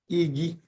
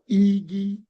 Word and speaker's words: Igi: So, so if you try to pronounce this I the same way you pronounce E, you won't get it right 100%. Igi, you see that?